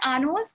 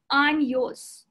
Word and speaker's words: años: With curly tilde symbol, it's called, you would pronounce it NY. Okay? Pronounced like onion. Pronounced like NY sound. So basically, años, it's not anos, it's años.